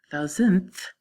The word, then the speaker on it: thousandth: to pronounce them correctly thousand is like having a$ thousand dollars so it has a d at the end thousand thousandth well that's like that's